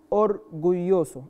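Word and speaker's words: orgulloso: اورجويوسو ناخد بالنا من النطق بتاع الاو والاو، اورجويوسو الاو والاو.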